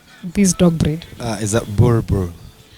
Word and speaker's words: Boerboel: the correct pronunciation am i the way you pronounce this dog bread is that borbo it's a burbur and we usually say what bull okay my